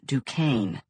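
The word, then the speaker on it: Duchannes: Lena Dukane, pronounced in the south to rhyme with rain. The way Amma rolled it out, you would have thought the word had an extra syllable. Douain.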